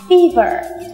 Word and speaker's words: fever: cô nào Fever Ừ cô đã từng gặp rất nhiều bạn học viên của mình đọc từ vựng này là Fever các bạn lưu ý là đây là phên âm của từ Fever và lúc các bạn viết ra thì sẽ rõ ràng thấy được Đây là âm i ch chứ không phải là